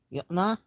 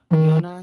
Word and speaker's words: Jonna: Yona, Jinton, and beautiful closure. Yona, Jinton. If you are American, the pronunciation as the J's are pronounced like a Y.